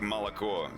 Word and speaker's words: молоко: It's like молоко. The last O is the stressed one.